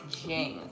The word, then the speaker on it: Jing: fly by z jane that's how you pronounce it jing fly by jing chili